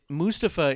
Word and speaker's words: Mustafa: Mustafa it's not Clump actually he's made it very clear on a number of of videos on social mediaa that Mustafa is how it's pronounced and the reason he